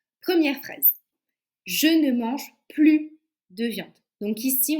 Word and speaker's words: plus: phrase je ne mange plus de viande donc ici on ne prononce pas le S pourquoi parce que c'est une phrase négative donc à chaque fois